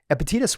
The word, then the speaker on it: Epictetus: And this individual, I always mess up the pronunciation of the name, but Epictetus.